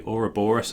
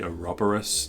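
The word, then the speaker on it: ouroboros: got the uh the the aura boris or the aroborous depending on how you want to pronounce it the the snake biting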